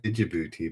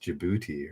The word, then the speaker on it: Djibouti: look at that b how is that oh i always said did you booty but i guess it's just djibouti right i guess so much for my geography knowledge yes djibouti djibouti is correct good